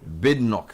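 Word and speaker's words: Badenoch: Is that how her name is pronounced? Bnock. Bidnok.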